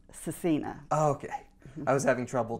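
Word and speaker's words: Scecina: Okay, so it's pronounced Cecina.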